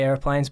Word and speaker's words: Aeroplanes: Do you say it Aeroplanes? Okay, so I actually was going to spell it Airplanes. Because usually I say Airplanes, but because it just looks cooler, Aeroplanes. Yeah. I don't know. Like when I sing it, I say Aeroplanes. So Aeroplanes. I guess, yeah.